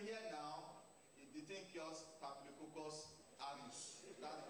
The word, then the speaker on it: Staphylococcus aureus: Because some of these herbal products, they've been You know, we hear now the thing cures Staphylococcus aureus. That's the pronunciation. Staphylococcus aureus.